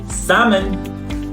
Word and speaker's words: salmon: L at all and the word salmon we don't pronounce salmon folk and it means